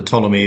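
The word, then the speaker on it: Ptolemy: And it was spelled with a silent P at the front of it. So I I dropped the silent P and I said, "Right, well that's perfect.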